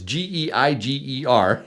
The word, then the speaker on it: Geiger: If you like Geiger bars, actually it's Geiger. If you need to know how to spell it, they're made in Germany, right?